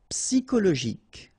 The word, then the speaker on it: psychologique: Okay, remember at the end you get this K. Okay, so ic. and then Y is pronounced like I, psy, and then it's an exception here because normally we should pronounce it chaud, okay, but then we pronounce it co.